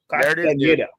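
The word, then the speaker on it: Castañeda: Castaneda.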